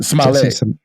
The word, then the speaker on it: Smollett: Smollett.